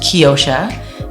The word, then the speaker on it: Keyosha: It's pronounced Keyosha, meaning key of the ocean.